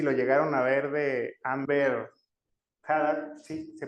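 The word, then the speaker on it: Amber Heard: Había un meme, no sé si lo llegaron a ver, de Amber Had, sí se pronuncia así, que está supuestamente está escuchando como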